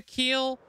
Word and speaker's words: keel: But yeah, that's a keel. Rhymes with heel.